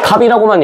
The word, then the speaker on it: 값: 이거를 비읍과 시옷을 같이 발음하지 않지. 어떻게 발음해? 그냥 갑이라고만 얘기하죠. 비읍과 시옷이라고 하는 겹자이 있음에도 불구하고 우리가 이거를 비읍시옷을 전부 다 발음하는 것이 아니라 비읍으로만 발음한다이 얘기야.